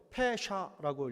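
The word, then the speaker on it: פשע: 옆에 있는 말은 히브리 말인데요, 페샤라고 읽어요. 페샤.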